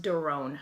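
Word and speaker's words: Doiron: know it's an issue my last name is spelled do i ro n but it's pronounced durin my it's French my in-laws chose now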